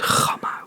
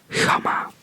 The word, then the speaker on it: gamma: So, for example, I would say the word gamma with a hard G, and they would pronounce it with a soft G. That sounds like, it's more of like a hiss. It's like a, so instead of like pronouncing it, you just kind of like breathe it out.